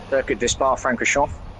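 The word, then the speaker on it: Circuit de Spa-Francorchamps: How do you say it? Circuit de Spa Francorchamps. There you go. See, that's how you say it. That's how a professional says it.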